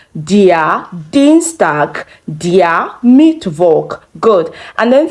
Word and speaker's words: Dienstag: Dienstag. Dienstag.